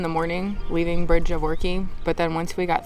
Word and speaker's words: Orchy: We did ask, and it's pronounced Orchy, to Kingshouse today.